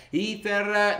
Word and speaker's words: Ether: Ethereum, o Ether, ragazzi, sarebbe meglio pronunciarlo nel modo giusto. Forse è meglio iniziare a parlare dicendo Ether.